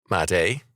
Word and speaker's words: Madai: Madai, pronounced Madai, became absorbed into Persia by Cyrus.